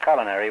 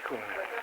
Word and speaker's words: culinary: It's sometimes pronounced culinary which is incorrect. Culinary.